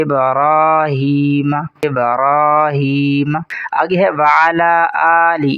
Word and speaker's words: ابراہیم: علی۔ آگے ہے ابراہیم، اکثر لوگ اسے پڑھتے ہیں ابراہیم، ابراہیم، یہ غلط ہے، را کو پر کر کے پڑھیں گے اور ایک الف کے برابر بھی کھینچیں گے، درست تلفظ ہے ابراہیم، ابراہیم۔ آگے ہے وعلی